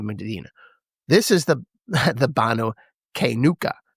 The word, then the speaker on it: Qaynuqa: This is the the Banu Kuka. Q A Y N U Q A.